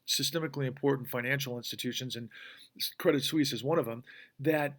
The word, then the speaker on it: Credit Suisse: is Credit Suisse and my apologize apologies for mispronouncing their name yesterday I said Bank Swiss for some reason but Credit Suisse um was rumored to